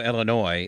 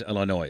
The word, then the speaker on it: Illinois: just like I know Illinois is Illinois it's French and the S is silent but I like saying